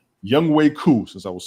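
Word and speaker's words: Younghoe: say his name and that young ho is Young Way.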